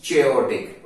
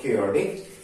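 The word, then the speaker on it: chaotic: I would call it चेओटिक और चेओस, बट the word is केओस और क्योटिक एंड it will be disorderly and this will be very violent and noisy place.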